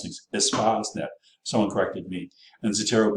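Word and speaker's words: Espacenet: We're going to let you use the Reaxis database, the Espasnet. That's how you pronounce it. You know, you're a chemist, you can spell and pronounce things. Espasnet.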